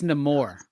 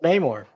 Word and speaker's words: Namor: Actually, I believe it's French and the R is silent, so it's just Namo. Oh, shut up. Stan Lee says it's Namor.